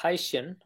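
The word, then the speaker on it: Hycean: makes them interesting so so it's pronounced as haen and the name is a port Monto of hydrogen and ocean um so so this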